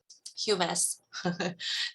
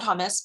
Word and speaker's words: humus: you've heard of the word um humus not hummus people have to mispronounce it the humus in